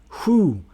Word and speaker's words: who: When the W is silent, the H is pronounced. Who, whom, whose, whole.